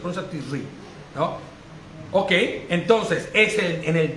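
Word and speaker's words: Tishrei: La pronuncia Tisri, ¿no?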